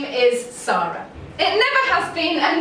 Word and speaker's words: Sara: It's pronounced how it's spelled, so please say it that way. Unless you're American, in which case it's fine. They say the name Sara, but spell it like mine. But otherwise, if I've told you it's Sara, please don't call me Sarah, or even worse, Zara.